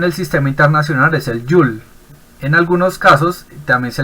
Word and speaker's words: joule: sistema internacional es el 'you'll en algunos casos también se le dice julio que se abrevia con una jota mayúscula se pronuncia el 'you'll nombrado haciéndolo en honor